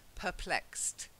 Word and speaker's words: perplexed: The pronunciation was fine, but the stress was a bit off. It's perplexed. Perplexed.